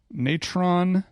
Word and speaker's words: natron: Natron natron salt paste. It's pronounced natron.